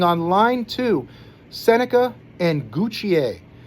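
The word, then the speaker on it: Gauthier: line two, Senica and Guccier. I'm always tempted to say Gothier because that's how it's spelled. I think it's funny that it's spelled gothier, but you get guch out of that somehow.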